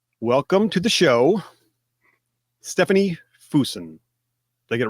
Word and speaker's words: Fuson: Welcome to the show, Stefany Fuson. Did I get it right? For government work. Use. It's good enough for government work. It's Fuson. Fuson. It's Fuson. almost rhymes with Houston, but Fuson.